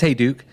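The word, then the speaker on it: Hayduke: this particular bike yeah so the the advocate hiduki uh i don't even know how you pronounce it hey duke hiduki it's hey duke it's from yeah it's from are you familiar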